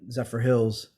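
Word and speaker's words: Zephyrhills: Sharon, you're kind of up there in Zephyr Hills.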